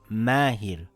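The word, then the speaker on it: ماهر: If the letter before the vowel alif is a light letter, the alif will also be light. For example we say the word mahir, the meem is a light letter so the alif will be light. It makes an aaa sound.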